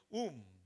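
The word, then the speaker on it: womb: 사람으로 번역해요 여자는 원이에요이는 움 움 비가 묵음이 그죠 아기집 자궁을 말해요 자궁을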